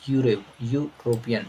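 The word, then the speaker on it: European: Next example, mister David is fill in the blanks यूरोपियन। जब इसको आप pronunciation निकाले पढ़े तो क्या पढ़े हैं, यू है, लिखा तो ई है लेकिन आप पढ़ क्या रहे हैं, यू पढ़ रहे हैं।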